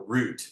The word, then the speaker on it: route: they're like that's a route that's a route a living route right or root as maybe it's pronounced in in British route the root all right